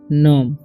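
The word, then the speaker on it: gnome: इसे पढ़ेंगे नॉम, जी का उच्चारण नहीं होगा, इसे पढ़ेंगे हम लोग नॉम, ओके।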